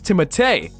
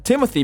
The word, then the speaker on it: Timothée: The proper pronunciation of his French name is Timothée, but he prefers the English version Timothy because it sounds less pretentious.